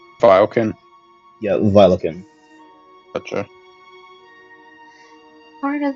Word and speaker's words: Violekin: Vilakin or Veldikin is what it's more common as, but Vilakin is a more easier term to pronounce because not many people can pronounce Velikin.